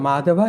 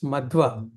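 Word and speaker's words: Madhva: gora sradai so it is on madhava it's madwa mad madwa sorry yeah madhava comes a little later madi sorry yeah madwa Brahma Madwa.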